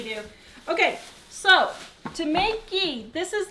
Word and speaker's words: ghee: She's talking about the ghee because she can't say ghee. She says guy instead.